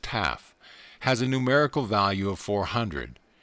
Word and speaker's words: tau: The last letter, tau, pronounced taf, has a numerical value of 400.